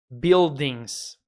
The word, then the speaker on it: buildings: prédios em inglês buildings tem a letra U aqui que não pronunciam boi só o som do I mesmo ignora S1 e diga biodens no inglês os adjetivos